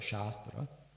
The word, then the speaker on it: shastra: The word shastra shastra pronounced properly shastra long a has um means in this context science and sacred knowledge sacred very sacred knowledge science.